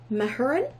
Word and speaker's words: Mahurin: I think it's pronounced Mahurin.